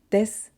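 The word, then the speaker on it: です: So instead of saying desu, we say des.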